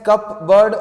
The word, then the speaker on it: cupboard: Number 2, the letter P is silent in the word cupboard. Do you speak it as cupboard or cupboard?